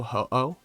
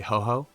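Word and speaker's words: Ho-Oh: i was a kid also ho oh if i'm not paying attention i'll say ho ho because for some reason that's also what i called it as a kid uh i wonder if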